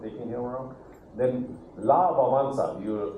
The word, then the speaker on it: Wałęsa: Then La Wałęsa, you pronounce his name as that, but he was a famous Polish leader who was the Solidarity leader.